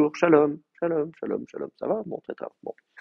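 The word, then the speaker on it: שלום: C'est-à-dire que si je dis shalom et que je m'arrête là, il y a pas de problème. J'ai le temps d'accentuer ma syllabe. J'ai deux syllables. Shalom, c'est la dernière qui est accentuée.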